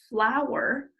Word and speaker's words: flour: What word does flour rhyme with? Listen for the end sound. Martha's neighbor Stanley Sour brought 3 cups of fluffy flour. You see it? It's his last name, Sour, flour.